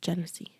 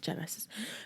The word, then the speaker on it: Genesee: Genesee. It's literally 3 syllables. Genesis. Because you know what? All of these years, people always call me Genesis instead of Genesee.